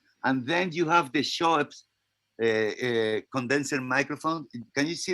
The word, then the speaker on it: Schoeps: And then you have the Schoeps condenser microphone. Can you see the Schoeps? Yep. We can see them all. And are you saying Shore or what? What is it? Schoeps. Schweppes?